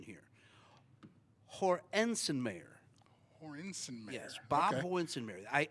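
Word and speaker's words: Hoernschemeyer: and I'm going to and I got the pronunciation here Hensen Mayer hor insen mayor yes Bob Hornen may I uh his nickname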